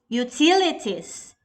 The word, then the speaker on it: utilities: Next we have number three, utilities. Great job. T is the stress syllable.